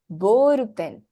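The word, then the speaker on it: ボールペン: Bor a ball pen Boren boru so B is elongated Boren Boren hi Boren the word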